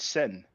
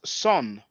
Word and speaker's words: sen: For those who wonder about the vowels, there's a word that means brother. We usually pronounce it sen because it's the biliteral SN. But in the Coptic language, it's pronounced son, SON.